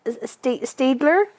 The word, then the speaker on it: Staedtler: It is pronounced Staedtler.